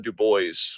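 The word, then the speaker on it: Du Bois: I've been reading a lot of Dubo recently and that apparently that's how it's pronounced and uh yeah based also learned things about Booker T.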